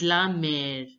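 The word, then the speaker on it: la mère: a second again repair again repair mother is pronounced as La Mer La Mer La Mer now look at this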